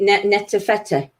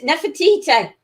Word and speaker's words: Nefertiti: No, is it Netafete? Nefertiti. Yeah. Nefertiti.